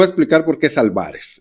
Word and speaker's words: Álvarez: explicar por qué es álvarez es una palabra grave no tiene acento si fuera esdrújula llevar acento si fuera aguda llevará acento al final pero no tiene acento en el apellido de este sinvergüenza y